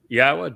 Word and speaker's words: Yahowah: We uh are the first to prove that it is pronounced Yahwa.